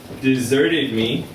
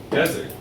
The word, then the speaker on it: desert: The stress is on a different syllable, right? Deserted me in the desert.